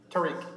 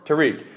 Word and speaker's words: Tarikh: and pronounce it again. It's Tarikh? Tarikh. Tarikh.